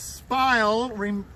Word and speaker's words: spile: mechanism that's called the spile you ever heard that word before cassie it's an easy one to remember because spile rhymes with that little word that describes the curve on your face that says everything's going